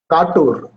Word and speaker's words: Katur: My first question to you is the setting of your book, Katur. Am I pronouncing it correctly? Katur, actually, Katur.